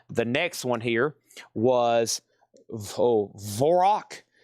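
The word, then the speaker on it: Dvořák: The next one here was Vorok. I think the D is silent. I think it's called Vorok. I think that's what this is here.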